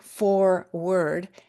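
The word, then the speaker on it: foreword: For word um sounding like forward.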